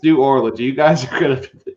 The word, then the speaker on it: New Orleans: with my dad tj my dad always said new orleans new orleans new orleans four syllables and like dad it's really more like two but it could be extended to three but it's not new orleans this looks like we're in orlando it's new orleans that's what it is